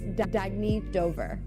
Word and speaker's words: Dagny Dover: Oh, it's pronounced Dagny Dover. Dagny means new dawn.